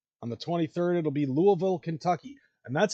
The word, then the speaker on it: Louisville: at the lock on the 23rd it'll be Louisville Kentucky and that's how you pronounce it otherwise Jim cornette will kick your ass it's not Lewisville it's not Louisville it's Louisville Kentucky at the wwme music hall and then